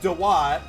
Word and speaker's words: Duat: It's pronounced Dewat, but it's spelled like Duat.